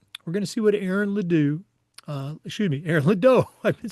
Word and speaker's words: Ledoux: And when we come back, we're going to see what Aaron Ledoux.